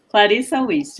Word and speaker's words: Clarice Wist: nossa convidada de hoje, Clarice Wist. É assim a pronúncia? Clarissa Wist, é.